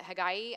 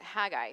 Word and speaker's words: Haggai: at the prophet haggai some people pronounce it hagay i'm going to pronounce it haggai because i get tongue-tied so it's haggai today if you want to call him haggai that's fine but today it's haggai so first let's look